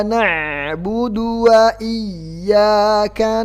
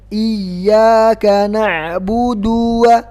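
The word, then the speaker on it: نَعْبُدُ: Kebanyakan memanjangkan dalnya. Iyyaka na'budu. Ingat, budua. Nah, kenapa kok ada mat, ada panjang di dal? Na'budu. Nah, ini juga suatu kesalahan. Yang benar gimana? Na'budu wa iyyaka.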